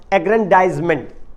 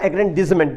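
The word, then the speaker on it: aggrandizement: Uncontrolled emotions, इरिटेशनल acts, indecision, people who are self centred और self एग्रेंडाइजमेंट या एग्रेंडिजमेंट, दोनों pronunciation है इसके।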